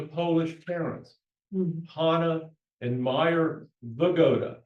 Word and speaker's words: Wygoda: Herman Wygoda was born in Offenbach, Germany on November 18, 1906 to Polish parents, Hanna and Meyer Wygoda. That's how Wygoda is pronounced in Europe.